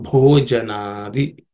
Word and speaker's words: bhojanadi: It has to be aspirated. So bhojanadi, okay.